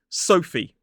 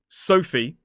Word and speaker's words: Sophie: Another tricky looking one is Sophie. So it is S, O, the diphthong O, and then f, E. So the PH is pronounced as a f sound.